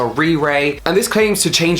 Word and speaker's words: RiRe: that called a RiRi I believe it's pronounced re ray and this claims to